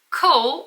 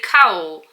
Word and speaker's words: cowl: I think I pronounced the word coal. I think I need to say cowl.